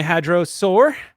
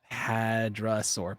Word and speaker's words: hadrosaur: Tippy is my hadrosaur. Don't call them a hadrosaur. It's hadrasaur, but hadro has always cracked me up.